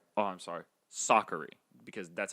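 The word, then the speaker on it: Sakkari: versus vondrasova kanta vs goff and tomlanovic versus sakari oh i'm sorry soccery because that's how we pronounce it now we've been pronouncing it wrong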